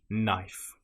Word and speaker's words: knife: If you have the letters K N together in that order, again, you probably won't pronounce the K. A common example will be knife. It just starts with a sound N. Knife.